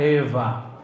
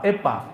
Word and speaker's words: Eva: Hawa bahasa ibraninya nya Eva pakai wau tapi wau di sana dibacanya semi-emi V antara wau dan Fa Eva bukan Fa bukan pula pa Epa bukan ya ada orang